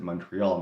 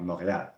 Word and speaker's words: Montreal: when I'm speaking English I'm going to pronounce it Montreal not morat even though you know it's a frenchs speaking Province French speaking city mostly so technically I should probably pronounce it the French way but I just tend